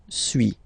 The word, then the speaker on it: suis: Okay, so first one, suis, as you've been noticing, you don't pronounce the final S.